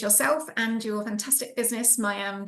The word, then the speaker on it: Miam: me pronounce it right mam jars it's my accent as well it's terrible it's a funny story actually it's yum and it's a French word for Yummy I used to in